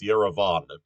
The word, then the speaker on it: Yerevan: That in Armenian the stress is always on the last syllable. So you have, for instance, Yerevan.